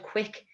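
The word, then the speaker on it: Qik: got it's so basic there's an app called quick it's spelled cue you ik i don't know if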